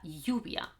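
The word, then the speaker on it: lluvia: double el erie okay l it sounds pretty much like a y in spanish so if you've come across the expression me my name is this is how you should pronounce this double a el me llamo or if you have talked about la yubia la yubia the rain this is how you pronounce this okay in some areas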